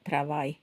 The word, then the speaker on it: travail: So the L, you don't pronounce the L, au travail.